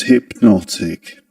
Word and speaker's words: hypnotic: The stressed syllable in the word hypnotic is the second syllable. This one not hypnotic. Hypnotic.